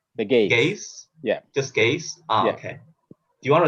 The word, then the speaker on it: Geez: How do I pronounce the title though? Is that Gaze? The Gaze. Or The Gaze. Gaze? Yeah. Just Gaze?